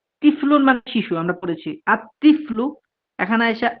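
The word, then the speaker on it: الطفل: এই শব্দগুলো দেখুন তিফলুন মানে শিশু আমরা পড়েছি আত্তিফলু এখানে আইসা আল তিফ্লু এরকম না আত্তিফ্লু পড়া লাগে কেন কারণ এই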